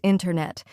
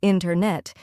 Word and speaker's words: internet: Yes, a great example is internet. We don't usually say internet. Instead, we say internet. The T sound gets softer or disappears.